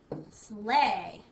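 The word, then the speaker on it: sleigh: does not play fair because we don't hear the g h at all and the EI makes an a sound slay okay let's try the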